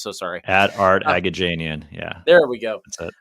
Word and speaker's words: Aghajanian: last name that I already forgot how to pronounce. So sorry. At Art Aghajanian.